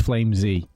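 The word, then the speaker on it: flameZ: i'm pronouncing it right he said it is flame z so that's his name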